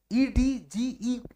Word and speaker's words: edge: और जो कोर होती है जिसको इट्स बोलते हैं, EDGE पढ़े होंगे ना आप लोग, एच, हाँ, उसको डी नहीं बोला है, साइलेंट होता है ना, हाँ एस, तो वो ई से डिनोट करते हैं।